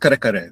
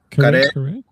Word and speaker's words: kare-kare: I'm I'm very proud of my It's called kare-kare. That's That's the name of the dish in the Philippines. It's a peanut curry stew. Mhm. So, with with Say the name again. Kare-kare?